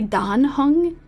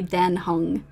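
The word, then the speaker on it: Dan Heng: are the same height I keep wanting to say Don hung but when I was listening to that um pronunciation video it was seeming like it's correct to say then hung so that's what I've been trying to I've been trying to train myself to say that well she is I'm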